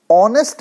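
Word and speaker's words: honest: अगर हमारा वर्ड है ह ओ एम ए एस टी जिसमें हम ह को साइलेंट रखते हुए ऑनेस्ट बोलते हैं दोस्तों तो ऑनेस्ट किस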